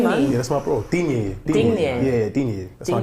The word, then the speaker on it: Digne: But Ding, what's it? How do you pronounce that? Ding there? Yeah, He's good at free kicks. Digne, that's my bro still.